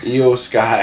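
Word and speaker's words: Iyo Sky: feel that uh this a how do you pronounce her name again is a iio e EO sky is her name there EO Sky watching her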